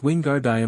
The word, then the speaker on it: Wingardium: It's Wingard Levi. Make the gar nice and long.